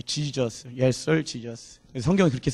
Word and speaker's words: Jesus: 내가 주님이 원하시는 삶으로 발음 잘해야 돼요. 애들이 잘못 들어, 목사님 예수님이 지저스인데 디저스라고요? 예, Jesus, Yes sir, Jesus.